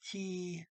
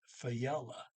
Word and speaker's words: fjellet: Um, the J is not pronounced. It's just, um, but if you go to Google and you ask, they do pronounce that J as a Y, so it comes out Fayella, Fayella. So the guy pronouncing it here in this story is just saying fella or the mountains.